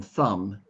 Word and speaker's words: thumb: don't know why but the b in thumb is silent yeah so when you